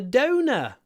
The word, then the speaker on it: donor: on the a donor the stress on the O Donor and actually donor in